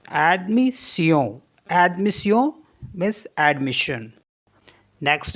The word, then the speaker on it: admission: अब SSION को भी सियों पढ़ते हैं, जैसे ADMISSION, तो इसको पढ़ेंगे एडमिसियों, एडमिसियों मीन्स एडमिशन।